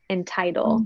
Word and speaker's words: entitle: And this is the case where it is actually the long I sound, entitle. The schwa happens in the unstressed syllable. In this word, it's the stressed syllable, entitle.